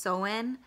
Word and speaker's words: Samhain: as a holiday that looks like Samhain but it's pronounced so in and it means summer's